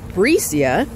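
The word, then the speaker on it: Brasia: So I just got waited on by Bricia. Is what she told me, but her name is spelled B-R-A-S-I-A, so kind of like a B-R in front of Asia.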